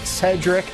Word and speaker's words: Sherdrick: active all over 40,000 yards Clint delzell Dallas Cedric boner it's yes it's spelled Sherri but it's pronounced Cedric he's close to 41,000 and Andy Kelly leading